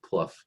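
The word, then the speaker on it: Plough: jane pluff uh p-l-o-u-g-h spelled like plow pronounced like pluff yes mark from from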